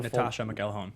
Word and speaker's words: Natascha McElhone: And what is her how do you say her Natascha McElhone McElhone.